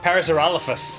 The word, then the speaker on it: Parasaurolophus: Sometimes mispronounced as Parasaurolophus, but that's not correct. Parasaurolophus. I would think so because of the sore.